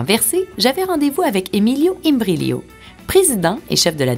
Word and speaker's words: Imbriglio: Imbriglio. Imbriglio. Puis on ne prononce pas le G, c'est ça? On le prononce, mais il faut être italien pour le savoir.